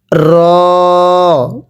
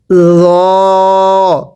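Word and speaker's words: ر: এরপরে র। রটা উচ্চারণের সময় আপনার জিহ্বাটাকে দাঁতের আগার সাথে লাগিয়ে উচ্চারণ করবেন নরম করে।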